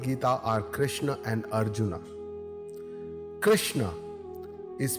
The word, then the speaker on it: Krishna: in the bhagat Gita are Krishna and Arjuna Krishna is pronounced as Krishna in D nagari with the root sound Ru